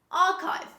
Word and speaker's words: archive: architect this is architect architect another similar word archive archive don't say archive this is archive archive